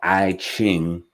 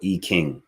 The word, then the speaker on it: I Ching: i e Jing or I Ching um is actually supposed to be pronounced I came or E King you know what I'm